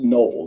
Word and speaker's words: Knoebel: It's pronounced Noble. This K is silent. Yeah, gotcha. Okay. Noble.